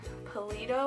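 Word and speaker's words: Palladio: um Sam Paleo, I think is how you say his name.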